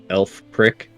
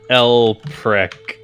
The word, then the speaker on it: Elprek: Every time you say his name, it sounds like you're saying elf prick. It's Elprek. Oh, okay. Okay. El prick.